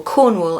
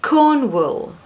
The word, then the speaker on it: Cornwall: But the second syllable is not pronounced the same way as wall.